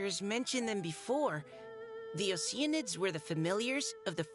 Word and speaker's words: Oceanid: It's like they're saying ocean. So ocean. Id. Ocean. At best, you can say Oceanid, or you'd say Oceanid. Honestly, you'd probably just say Oceanid.